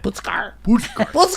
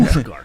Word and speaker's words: Puszkar: say it wrong because I want to say Puszkar. That's okay. Call me anything you want. Puszkar. I've been called worse. Puszkar.